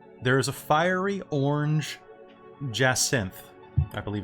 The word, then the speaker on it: jacinth: thing in particular there is a fiery orange jazz synth i believe it's how it's pronounced oh what now a jacinth google it real quick and you'll see it's